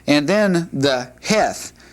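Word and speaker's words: ח: But the H with a dot means we're looking at a hard H sound, and it has a sound like the modern KH, or in the Loch Ness Monster, that k at the end. That's how you pronounce the Hebrew heth.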